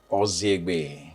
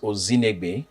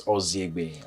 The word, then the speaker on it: Ozinegbe: So ordinarily, it's pronounced Ozinegbe because there's an N. But after a while, parents told me the N is silent, so it's Ozinegbe, and it means patience.